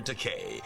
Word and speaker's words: Takei: Rhymes with okay, doesn't it? Okay, you're Takei.